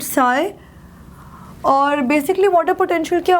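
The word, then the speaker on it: psi: Water potential इसको हम Greek letter से डिनोट करते हैं, जिसको वी प्रोनाउंस इट साई।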